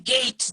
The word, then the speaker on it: gait: Here I'm asking gait. G-A-I-T, gait, which means manners of walking. The walking style is called gait. G-A-I-T. Another word, it will pronounce like gate only.